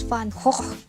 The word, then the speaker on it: Van Gogh: And also in the title, like today I was watching some videos about Vincent van Gogh, but he uses a Dutch pronunciation, so it's Van Gogh.